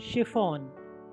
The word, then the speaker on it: chiffon: अब CH के बाद I आ जाए तो वो श हो जाएगा। CHIFFON शिफॉन महीन कपड़ा।